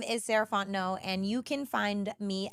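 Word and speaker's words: Sarah Fontenot: again my name is sarant no and you can find me at Miz saraon no so Ms s a r a h fo o n t n o t the t is silent um that's me on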